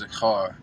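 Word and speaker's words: זכר: mind is a verb, um, which is it's pronounced zakhar.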